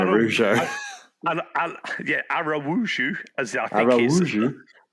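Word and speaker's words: Araújo: because I was saying Araujo. Araujo, as I think Araujo. It sounds like it's got a W in there.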